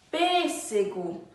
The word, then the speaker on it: pêssego: à Senta aqui em pêssego nesse primeiro é pêssego preço é a sílaba mais forte não é a sílaba tônica